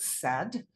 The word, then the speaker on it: said: Underline the tricky part, or they can heart it, and you can see the word said. You can sound out s and d, but the eh is spelled ai.